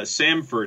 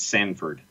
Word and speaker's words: Samford: different conversation and uh samford is the university in birmingham not sanford again that that's just that's nothing to do with this john jordan and jordan are spelled the same way stanford and sanford and samford are not spelled the same way so they have nothing to do with one another they're a letter off yes yes people getting